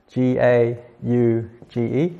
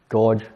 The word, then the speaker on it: gauge: So gauge, that's spelled G-A-U-G-E. I say gauge, but some people might say gorge. Just say gauge pressure.